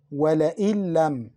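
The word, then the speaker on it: ولئن لم: وَلَئِن لَمْ. وَلَئِن لَمْ. We mixed Noon into Lam. We didn't pronounce Noon. We pronounced the Lam twice.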